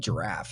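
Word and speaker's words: Jirav: about the software so it's called giraffe it's j-i-r-a-v giraffe it's spelled giraffe is what it looks like point is it's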